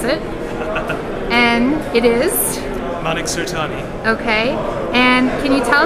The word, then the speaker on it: Manik Surtani: And I'm not going to screw up Manik's name, so I'm going to let him pronounce it. And it is? Manik Surtani.